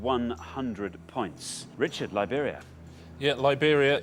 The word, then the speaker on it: Liberia: points Richard Liberia yeah Liberia it rhymes with Siberia and it's also a